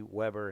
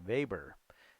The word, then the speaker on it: Weber: they pronounce it max weber so if you watch a video about him he'll say max weber because they pronounced the w like a v in germany and he was interested